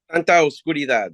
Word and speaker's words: Santa Oscuridad: about your other band, Santa Obscuridad. Is that how you pronounce it? Santa Oscuridad, yeah.